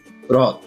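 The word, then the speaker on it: হ্রদ: এরপরে আছে রদ। এর উচ্চারণ আসলে সঠিক উচ্চারণ হচ্ছে রদ। এটা আসলে হ না র না, হ এর মতো উচ্চারণ হবে না এবং র এর মতো উচ্চারণ হবে না, সঠিক উচ্চারণ হচ্ছে রদ। তারপরে আছে মুজ্জমান।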